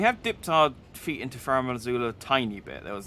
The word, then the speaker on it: Farum Azula: I'm actually pronouncing this right as well. I'm calling it Farum Azula. No, it is right.